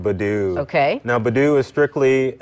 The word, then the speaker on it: Badoo: victims there right okay our next app you pronounce this badoo badoo okay now Badu is strictly an adult dating